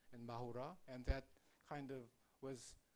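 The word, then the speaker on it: マフラー: And then Japanese kind of Japanized English into like Japanese style pronunciation and Mahura.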